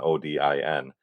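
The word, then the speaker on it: Óðinn: also Odin people stylize and say is Odin o i n it's actually o e i NN and it's pronounced oin there you go so um this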